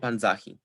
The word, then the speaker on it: panzahi: the default penultimate stress thus if we attach he to panza we assign stress to the penultimate syllable within the inflected verb thus we get panzahi when we attach he